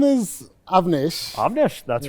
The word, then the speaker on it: Avnish: My name is Avnish. Avnish. That's right. All right. So Can you say my name? Avnish.